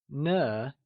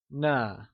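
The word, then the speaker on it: 呢: nah just like ma na uses a neutral tone and is pronounced using a soft falling sound as if the sound is fading away like na let's try and pronounce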